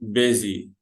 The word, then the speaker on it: busy: ايوه، بيزي. ايوه، ثانك يو. في ناس بتقول يا مستر دي شبه كلمة باص، الاتوبيس. صح، بس هنا الاس هتنطق زد فنقول بيزي.